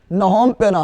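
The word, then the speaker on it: Phnom Penh: है और कंबोडिया के राजधानी पेना अरे पी साइलेंट लेला नोमपेना पेना पी साइलेंट कौन सी है पीएस साइलेंट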